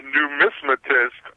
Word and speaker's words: numismatist: coin collector but well how do you say it properly yeah it's a numismatist I I could have